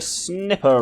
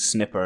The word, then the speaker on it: sniper: is the sniper rifle I genuinely pronounced it as snipper until so first came across it in the game genes one night fire and yeah I thought it was pronounced snipper turns out its sniper who knew as you